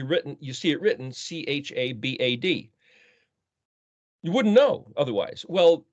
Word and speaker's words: Chabad: the sites that comes up is uh spelled c-h-a-b-a-d cha bad well it's actually pronounced Chabad and that's a let's just say